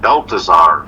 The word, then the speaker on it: Balthazar: I believe it's pronounced Balthazar.